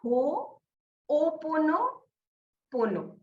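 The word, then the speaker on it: Hoʻoponopono: To pronounce it, उसको होपोपोनोपोनो कुछ ऐसे, बहुत सारा उससे रिलेटेड है, तो इस पर हाँ भी आप थोड़ा प्रकाश डालिए। हाँ, सो इसको बोलते हैं हो ओपोनो पोनो। ओके।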